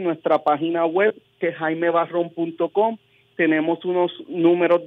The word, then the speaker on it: Barrón: página seguramente toda la recuerden Barrón como si fuera el color marrón pero con b barro exactamente muy bien